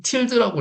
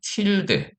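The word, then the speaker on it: tilde: 이 틸데, 틸데라고 하든 틸드라고 하겠습니다. 뭐 발음하는 외국 사람들이 틸데라고도 하고 저는 틸드라고 하겠습니다. 이 틸드가 홈 디렉토리라고 뜻이에요.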